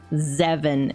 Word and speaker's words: Zevin: couple of months ago someone whose name used to be zevin I'm going to say it like zeven it's basically seven with a z zeven grabs popcorn yes